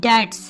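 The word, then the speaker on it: debt: O Allah protect us from poverty and dates. Poverty कहते हैं गुर्बत को और कर्ज की इंग्लिश होती है डेट. बी साइलेंट होगा डेट.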